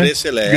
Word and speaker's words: Gresselé: Falei certo, né? Gresselé, essa é a pronúncia. A pronúncia correta.